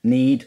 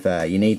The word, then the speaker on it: Ynnead: It might have a silent Y, so it's just Need or Ned. The triumvirate of Ned, but I'm just going to call it Ynnead.